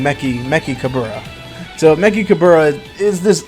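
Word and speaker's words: Mechikabura: Empire, their leader, and the way you say his name is Meki Kabura. So think of like Dabura, but instead you're saying Meki Kabura.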